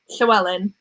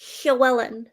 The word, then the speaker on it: Llywelyn: Wait, how do you pronounce it? Llywelyn. Llywelyn.